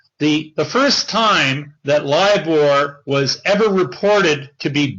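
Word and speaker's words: LIBOR: issue with liore and when I say liore what I'm talking about is the uh lior is spelled lib o r it stands for the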